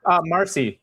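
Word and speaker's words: Marsee: What's the pronunciation? Owen Casey. No, sorry, the other guy. Jacob. Marcy.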